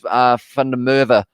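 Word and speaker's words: van der Merwe: Like I guess Fundamerva is a perfect example, and it is spelled MERWE. So of course I say it as V, because I am pronouncing it in the South African way.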